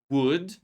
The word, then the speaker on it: would: Remember that these words we don't say L. These are modal verbs and we don't pronounce L in these words.